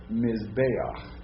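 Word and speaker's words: מזבח: So that's how it's not pronounced echa, because that's a furtive patak under that. Okay, it's ayach. Okay, so try the whole word. Perfect, right. Mizbeach.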